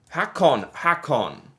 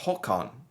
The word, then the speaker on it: Håkon: Hakon. I'm familiar with this one. Is it, or would it be pronounced Håkon? Håkon, I think? Because of Prince Håkon.